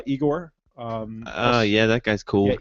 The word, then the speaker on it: Igor: and namely folks like Igor. yeah, that guy's cool. Yeah, Igor, amazing individual. Freaking a genius. That guy's he's a genius. very incredible person. Is it Igor or Igor? Igor. Igor. One of the classic things